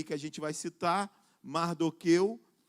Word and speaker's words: Mardoqueu: Mardoqueu, alguns vão usar outra pronúncia, Mardocai, eu vou usar essa pronúncia, Mardoqueu.